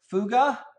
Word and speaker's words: Fugger: model guru and I've been talking about Jakov fuga oops I know it's bet looks like but it's spelled like ooh girl tries with Cougar and